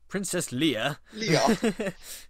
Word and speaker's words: Leia: I like how this guy mispronounces Leia as well. Oh yeah, he says Leo, Princess something like Leo. Leia.